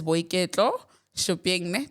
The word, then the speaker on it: Boiketlo Shuping: Her name is Boiketlo Shuping.